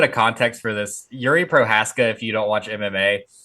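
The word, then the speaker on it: Procházka: fun UFC 303 aric Alex Pereira denies hiri pazas is that how you pronounce that prohaska prohaska request to not use magic for light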